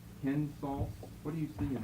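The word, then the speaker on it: κῆνσος: Let's give us ourselves a short E. Kensos.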